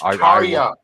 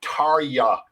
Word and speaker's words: Tarja: But the J is silent. The J is silent. So many people that are like Terra or Tarja. It's like Tarja.